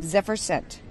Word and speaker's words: Zephyr Scent: Zephyr scent. Zephyr scent. Zephyr's a wind. Okay. So it's a wind scent.